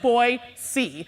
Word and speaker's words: Boise: was excited to see you right know you pronounce it boy see all right guys so now we're all now